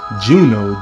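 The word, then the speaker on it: Juneau: And then the UBB is called Furious Juno. J U N E A U. We're going to pronounce that Juno. I could be completely wrong, but that's how I'm going to pronounce it.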